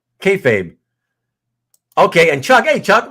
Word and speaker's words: kayfabe: KAYFABE. Okay, and Chuck. Hey, Chuck, what's up, Chuck? KAYFABE, you mean? KAYFABE? KAYFABE. Okay, if it's KAYFABE, like Kazra says, tell me if it rhymes with maybe, right?